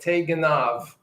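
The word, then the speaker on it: תגנב: in the phonetic rendering, don't pronounce it as a B. You see underneath that B? They're telling you to give it a V.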